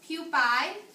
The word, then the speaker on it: pupae: This is pronounced pupae.